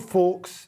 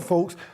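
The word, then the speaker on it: Faulks: uh this is lord fawkes the i thought it was fawkes but you said you don't pronounce the i think the l is silent as in hope i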